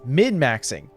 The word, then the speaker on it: min-maxing: attention right now is min-maxing. Min-maxing, not mid. I've been saying it wrong.